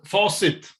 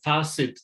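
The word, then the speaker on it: Facit: I've heard different pronunciations in Swedish too, because it's some Swedish people have said facet too, but it's faucet.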